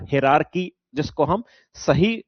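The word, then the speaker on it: hierarchy: हायरार्की हम इसलिए बोलते हैं क्योंकि बहुत सारे बच्चे यही टर्म यूज करते हैं, तो इसलिए मैंने ऐसा बोला। हिरार्की उसके लिए एग्जैक्ट टर्म होता है, प्रोनाउंसिएशन की बात करूं तो मैं।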